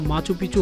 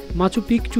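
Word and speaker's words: Machu Picchu: স্পেনীয় উচ্চারণে শহরটির নাম মাচু পিচু হলেও অনেকেই এর নাম উচ্চারণ করেন মাচু পিকচু হিসাবে, যার অর্থ পুরনো।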